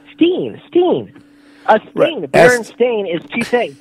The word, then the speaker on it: Berenstain: thought he wasn't saying it right it was berenstein he said that that was in uh 2007. over ten something years ago he said he said baron stain he corrected me i said berenstain bears it